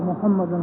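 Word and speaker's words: محمدا: मोहम्मद रसूलुल्लाह, मोहम्मदिन भी गलत है, मोहम्मदुन भी गलत है।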